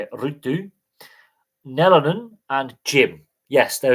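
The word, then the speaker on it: Ruutu: So Rutu Plus, which is one of the that is actually how you say it, Rutu, Nelonen, and Jim.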